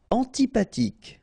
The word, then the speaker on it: antipathique: Antipathique. So remember this H doesn't exist phonetically, so antipathique. Okay, final E not pronounced.